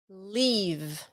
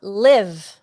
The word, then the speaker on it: leave: La E-A en leave se pronuncia I, como la I de ustedes en español. La I larga. Leave. Not live. Live es otra cosa. Leave. And say it like leave. It's a long sound.